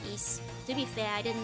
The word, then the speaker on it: Ys: I thought it was uh is before I've been told by you guys that it was ease.